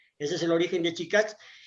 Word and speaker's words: Chikach: crear una marca comercial, que es Chicach, que significa, es en palabra quiché, que significa canasto. En idioma quechí se dice chacach, y en otros idiomas